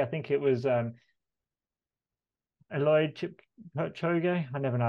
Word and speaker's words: Kipchoge: And actually, I think it was Eloid Kipchoge. I never know how to say his name. But yes. He basically says... Kipchoge.